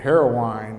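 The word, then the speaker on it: Heroine: old former blockade runner called the heroin and they pronounced it heroin and it had been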